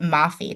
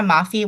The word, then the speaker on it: Mafi: will say one Tara I think you pronounce it Mafi Tara Mafi with her shatter series it's